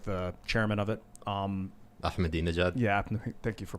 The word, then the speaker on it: Ahmadinejad: Ahmadinejad? Yeah, thank you for pronouncing that properly.